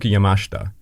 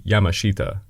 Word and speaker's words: Yamashita: pronunciation of uh Tomi yamashta that's how the Japanese pronounce it obviously if you're an English speaker you would say Tom Yuki Yamashita it's just one of